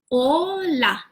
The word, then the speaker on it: hola: hello hola we say hola how do we pronounce oh la la la hola hola so this is